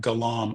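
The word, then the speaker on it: Galarm: I have an alarm app that I use called Galam. I don't work with them. I'm not affiliated with them. I use that free version. It's spelled alarm with a G on the front.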